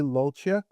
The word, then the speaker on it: Lulciuc: We are here with uh Willie Lolic and I'm sorry, did I pronounce that correct?